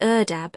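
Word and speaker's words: ardeb: The classical pronunciation is erdab, and it measured 24 s gallons, each filling four outstretched hands.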